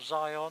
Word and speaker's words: Zion: to go to Utah go to Zeon or Zion I think that's how the americans pronounce it but absolutely amazing rules